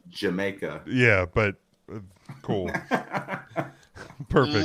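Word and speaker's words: D'yer Mak'er: Dire Maker. Pronounced Jamaica.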